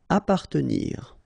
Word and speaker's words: appartenir: Appartenir, okay, double P, basically you don't pronounce the double, so you just pronounce APA, appartenir.